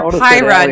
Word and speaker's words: Pyra: And we are Pyra, not... Yeah, we're Pyra, not Pira.